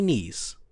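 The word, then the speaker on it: Kneiss: 60 year old Terry Niece and niece is spelled k-n-e-i-s-s no it is not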